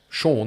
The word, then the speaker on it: Sean: Well, it's like my name's Sean, right? And it's spelled Irish spelling, S-E-A-N.